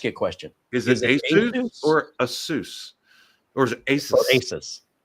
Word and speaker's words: ASUS: He goes, "Um, I say ASUS." Okay. Well, that's all that matters to me. If you're the president of ASUS North America and you call it ASUS, that's what I'm calling it.